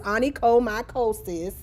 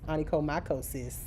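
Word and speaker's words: onychomycosis: Anico micosis. Okay. Oh my is in that word. Oh my. You see it? And sis. Oh my. Sis, you got a fungus. Anico micosis.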